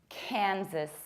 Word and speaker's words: Kansas: Kansas. You don't pronounce sass like sass, sassy. You reduce it. Sis. Kansas. Kansas. Kansas.